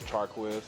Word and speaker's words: Chaquizz: I'll go by Quizz, but the right pronunciation is Chaquizz, Chaquizz.